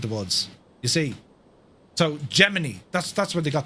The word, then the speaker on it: Gemini: However, inside NASA public affairs office issued a statement in 1965 declaring Jemini the official pronunciation.